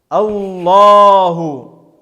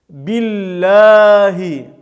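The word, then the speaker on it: الله: Аллаху, Аллаху с фетхой читается твердо. Билляхи, Билляхи с кесрой, с и читается слово Аллах мягко. Билляхи.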